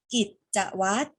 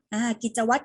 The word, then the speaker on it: กิจวัตร: เป็น ต้น นะ คะ กิจวัตร ออก เสียง แค่ ตัว ต เต่า นะ คะ ตัว ร เรือ ที่ อยู่ หลัง ตัว สะกด เรา ไม่ ออก เสียง ต่อ มา คำ ที่